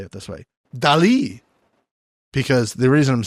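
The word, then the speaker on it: Dalí: you're saying Dolly, and it's Dali. Dali, Mr.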